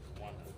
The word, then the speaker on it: Rwanda: So as far as Rwanda, am I saying it right? Rwanda.